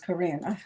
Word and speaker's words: Corinne: Corinne. That's what it is. Corinne. I've been saying it wrong.